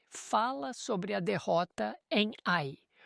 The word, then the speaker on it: Ai: A cidade é soletrada a i, mas é pronunciada ai.